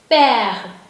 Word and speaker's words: père: This is P. This is A. This is a sound. A. This is h, and this is silent letter. So it is père.